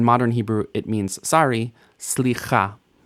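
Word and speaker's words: סליחה: Now, in classical Hebrew, we should hear the shva, slicha, slicha, 3 syllables. But typically in standard pronunciation in modern Hebrew, we mush the shva into the next consonant, slicha. New consonant, ayin.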